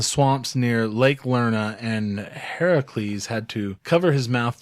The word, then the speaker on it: Heracles: to slay caracals that Heracles a lot of people pronouncing Hercules but actually the real name is yeah so I haven't